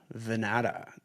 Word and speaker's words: Vannata: Welcome back to the Chasing Common Ground podcast and today I'm joined for the first time by Vanata.